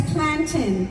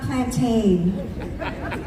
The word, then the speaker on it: plantain: Sister Trinidad, it's Plantin, not Plantain.